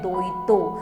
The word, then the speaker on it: दैत्य: अब ब्रह्म दैत्य बेसिकली एक ब्राह्मण की ही स्पिरिट होती है और दैत्य को वेस्ट बंगाल में प्रोनाउंस करते हैं दोइतो।